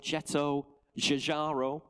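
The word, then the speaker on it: Giugiaro: this one styled by the legendary designer Georg jetto jaro there you go I practice that pronunciation prior to starting the sale just to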